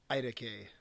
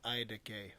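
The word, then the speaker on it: iTaukei: cool how it's spelled it's i t a u k e i i decay i couldn't really find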